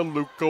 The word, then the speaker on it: Luca: Cooley off to Luca Wood. Pronounced the same as the Luca Star from Los Angeles, spelled differently.